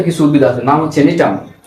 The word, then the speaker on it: Gnetum: এটাও নগ্নবীজি উদ্ভিদের মধ্যে আবার উন্নত কিছু উদ্ভিদ আছে, নাম হচ্ছে নিটাম। কি আছে? নিটাম, GNETUM।